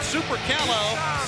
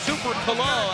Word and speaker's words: Super Caló: All right, Super Calo, or Super Calo, actually the pronunciation of his name, from Mexico, making his way to the ring.